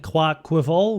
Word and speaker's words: Quaquaval: team with Gligar and Clark quiver which is apparently the correct pronunciation and this is not